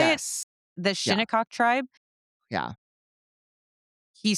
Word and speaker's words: Shinnecock: The Well, it Shinnecock? wasn't, Is that how you say it? yes. The Yeah, Shinnecock tribe?